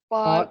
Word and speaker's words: park: आर, पार्क यानी यहाँ यहाँ आर की आवाज थोड़ी थोड़ी होती है या नहीं होती, नहीं पार्क। बिल्कुल नहीं होती, ये बिल्कुल नहीं बिल्कुल होती।